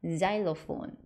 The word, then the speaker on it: xylophone: 근데 X가 자이, 이 발음도 나요. 그래서 저희 실로폰이 아니라 xylophone, xylophone 이렇게 발음하거든요.